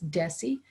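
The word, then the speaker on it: DESE: go back to missouri deci department of elementary and secondary education we usually pronounce that d-e-s-e as deci so you're going to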